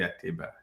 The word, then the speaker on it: Ateba: last name yes Simon at Tiba yes okay great your story is so fast most people say but it's actually a table yeah okay you said